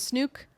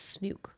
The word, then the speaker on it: Snook: Apparently, her name is Snook. Oh, I did see a clip of her explaining why or how to pronounce her name. It's Snook.